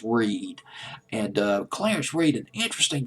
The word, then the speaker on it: Reid: Maybe it's R-E-E. Well, I'll just pronounce it as Reed.